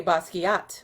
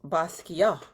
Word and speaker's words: Basquiat: I say Basquiat, but it's pronounced Basquiat.